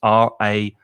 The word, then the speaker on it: reign: that's another silent g and exactly the same pronunciation as r-a-i-n which if you look in a dictionary you'll